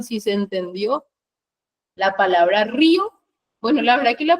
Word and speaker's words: río: Lleva tilde en la vocal cerrada o débil. Al llevar tilde una débil se convierte en fuerte y según la regla del hiato, dos fuertes no pueden estar juntas, entonces se separan. Entonces río tiene dos sílabas.